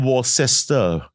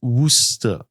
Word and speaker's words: Worcester: So it's not Worcester. It's Worcester. Yeah, but that's okay.